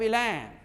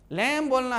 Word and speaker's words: lamb: बी जब टी के पहले आए, किसके पहले? टी के पहले आए, और एम के बाद आए तो बी को साइलेंट करना भाई। बी को साइलेंट करना यानी बी पर में जोर मत देना, बी को मुख कर देना। ई ने जब बी का भी उच्चारण करोगे, जैसे LAMB लैम, लैम बोलना है, लैम्ब नहीं, बॉ नहीं।